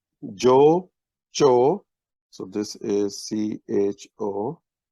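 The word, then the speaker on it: جو: This is simply pronounced as Joe.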